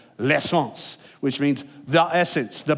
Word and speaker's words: l'essence: And if you're talking about like proper, you'd be like, there's a little L in front of it that you barely pronounce if you're speaking French, l'essence, which means the essence, the gasoline, the petrol.